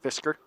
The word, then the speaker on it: Fischer: We had Fischer here. Just sounds like it's spelled. There's no worry about that. without the Eastwood. Fischer. Well, I don't know. There is a C in there. Fisker.